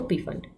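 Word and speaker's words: Pfund: पीफन में जो पी होता है वो साइलेंट होता है, इट इज़ जस्ट फंड.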